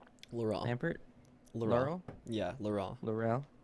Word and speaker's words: Laurent: How do you pronounce your name? Laurent. Lampert. Laurent. Yeah, Laurent. Laurel. Laurent. Okay. It's Laurent?